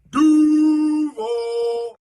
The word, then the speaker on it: Duval: But here is what he gave me with how Duval should be pronounced. Duval.